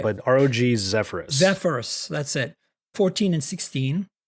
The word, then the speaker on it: Zephyrus: Zephyrus, that's it.